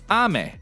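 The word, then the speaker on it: 雨: Her name is actually pronounced Ame, with the first part pitched up, which means rain.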